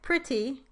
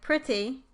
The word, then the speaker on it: pretty: the word more like pretty, then I would put the E at the end. If I thought it was more like pretty, I would put the I at the end.